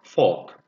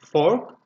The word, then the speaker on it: fork: The same thing goes for fork. We say fork, we don't really say R, because you probably know O and R sound together. If they are combined, we pronounce as long O, fork. In British English, in American English, you can pronounce R, you can say fork, okay?